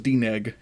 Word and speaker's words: DNEG: Yep, it was DNEG. It's literally how and the way you spell it is exactly how that's how it sounds.